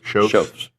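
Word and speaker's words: Schoepf's: I read it phonetically. That's how it's Shoaf's. Yeah. SCHOPFHS. It's in Belton. It looks like Shopels.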